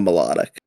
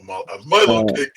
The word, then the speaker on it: Milotic: So yeah, he's clearly referencing a melodic. Yeah. A Milotic.